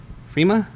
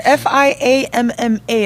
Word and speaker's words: Fiamma: do you say it there's no R there I don't know Fiamma